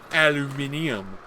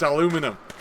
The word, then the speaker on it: aluminum: Aluminium. Aluminum. Aluminum. The English say it wrong. It's aluminum.